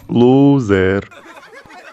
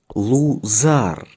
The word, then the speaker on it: Лузар: ви двоє досить базікати Мене звати Лузер правильно вимовляється зараз лузар І це тригунокалькометрія урок